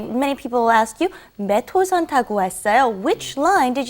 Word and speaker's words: 몇 호선: You want to say 몇 호선. It's kind of like it's not written that way, but that's how you want to pronounce it. So try that. 몇 호선.